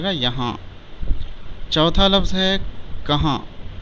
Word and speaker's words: کہاں: یہاں۔ چوتھا لفظ ہے کہاں، ہجے اس طرح کریں گے: کاف زبر کا، ہے الف زبر ہا، نون غنہ ساکن، کہاں۔ اس کے بعد ہے